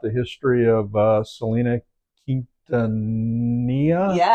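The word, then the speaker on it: Quintanilla: to learn about the history of uh Selena Kintania.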